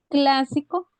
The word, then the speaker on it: clásico: bien que las utilicé clásico es una palabra esdrújula verdad porque lleva la su acento en laúltima antepenúltima sílaba y vamos a buscar otra